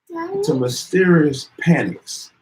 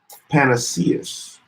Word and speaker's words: panaceas: good old country remedies, to mysterious panics, I know that's not how you pronounce that. Panaceas.